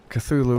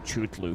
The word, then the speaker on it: Cthulhu: ravage ravage tendrils everywhere Cthulhu would be incredibly happy I always thought that was pronounced truth Lou for some reason yeah I didn't know